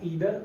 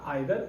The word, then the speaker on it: either: Next जो correlative conjunction है वो है हमारा ईदर और या आइदर और. हम इसे प्रोनाउंसिएशन दो तरीके से कर सकते हैं, या तो ईदर या आइदर, दोनों सही है.